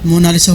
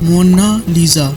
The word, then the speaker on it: Mona Lisa: लिखी जा चुकी हैं मोनालिसा को इंग्लिश में मोनालिसा कहा जाता है बल्कि इसका सही स्पेलिंग मोना लीजा इसका मतलब होता है